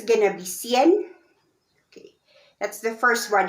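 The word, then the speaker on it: cien: there are two ways to read your 100 it's gonna be cn okay that's the first one if if it's just 100 it's cn it's spelled c i e n c n okay now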